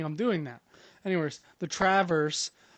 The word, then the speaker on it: Traverse: We're talking about what we were looking for in what we were looking for in the Traverse City Traverse. No, Traverse.